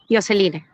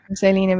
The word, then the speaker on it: Diosceline: se pronuncia tu nombre bueno según el Castellano que es lo que nos rige yoseline sería yoseline perfecto Bueno antes que